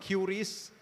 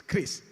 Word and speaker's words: QRIS: explaining it is not QRIS, it is not QRIS, it's CRIS. So this is a proof of a real player in the ecosystem that he's pronouncing it correctly.